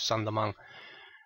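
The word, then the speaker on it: Saint-Domingue: island which had been Santo Domingo um sandong so the same St Dominic but uh just pronounced in French sandong quickly this French Colony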